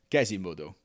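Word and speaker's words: Quasimodo: In French, they don't pronounce Quasimoto as Quasimoto. They pronounce him as Gazimodo.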